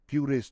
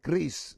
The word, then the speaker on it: QRIS: Kemarin saya sudah dikasih tahu sama Pak Gubernur BI, jangan bicara bacanya bukan QRIS tapi kris.